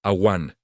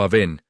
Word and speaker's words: Awan: La esposa de Caín se llamaba Awan. En hebreo se escribe Ayin Bavnun. Se pronuncia awan o aven y su significado es devastador.